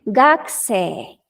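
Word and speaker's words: 学生: gasolina la u porque es la regla de pronunciación de la u antes de una consonante fuerte como la s sí gagse Y quiere decir estudiante entonces Pueden decir en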